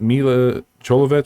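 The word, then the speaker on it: Milla Jovovich: on that there this has me is it mila cholovich say you pronounce her name is that correct yes um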